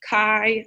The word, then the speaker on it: chi: this X with a little squared sign it's pronounced Chi even though it looks like chai or or